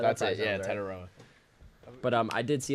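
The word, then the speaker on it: Tetairoa: how to say his first name who McMillan ton taroa that's it yeah taroa but um I did see a lot of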